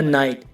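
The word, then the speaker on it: night: For example guys, फाइट, माइट और नाइट। इन सब में वर्ड के लास्ट में जी एच टी है तो इसमें जी एच साइलेंट है।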